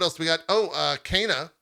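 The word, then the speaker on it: Kena: we got oh uh cana or kenna i think is the proper pronunciation uh bridge of spirits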